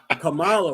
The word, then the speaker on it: Kamala: the election uh mr camilla harris are you pronouncing that camille isn't coming camilla kamala right kamala camelot there you go camelot